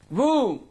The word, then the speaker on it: womb: Womb. B is here silent.